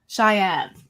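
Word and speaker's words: chèvre: My mother-in-law was like, no, you said it wrong. It's Shayev.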